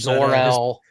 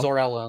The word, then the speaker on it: Zor-El: Zor-El. Birth parents, Bradley Cooper, Jor-El, and I can never remember his. I think his mom's name's Laura. Laura L. Yeah, Laura and Jor-El. Zor-El and Laura.